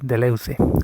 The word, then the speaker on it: Deleuze: de las clases de deleuze pronunciaremos así sin intentar pronunciar los francés de leuze no suelen pronunciar así de las cosas así aunque la aproximación es más o menos así bueno pues ahí empieza